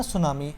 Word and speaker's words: tsunami: ये जो लफ्ज़ है ना सुनामी, इसमें पहला टी नहीं पढ़ते, ये साइलेंट है, तो ये सुनामी लफ्ज़ है।